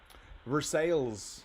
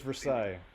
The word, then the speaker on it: Versailles: Versailles, if you're trying to read it the way it's spelled. Pretty sure it's Versailles.